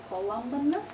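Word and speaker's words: column: say the N like the you don't say colum but uh you do sometimes say colum so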